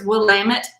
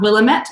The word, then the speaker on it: Willamette: borg is not from willamette valley oregon so remember it's willamette dammit um that's how it's pronounced um not willamette so willamette that's where